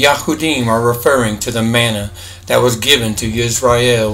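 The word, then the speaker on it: מן: these passages the yahudim are referring to the Mana that was given to Israel when they came out of Egypt yahusha is telling them that he is the true Mana the true bread of Elohim to understand this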